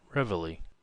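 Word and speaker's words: reveille: their blue noses counted in the american army it is ingeniously called revelly and to that pronunciation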